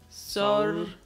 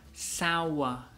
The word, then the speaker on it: sour: Sor, sor. Pero la pronunciación correcta sería sour, sour, like a lemon.